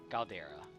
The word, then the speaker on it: Galdera: Yet one god, Galdera? What? How would you pronounce that? Caldera? Galdera.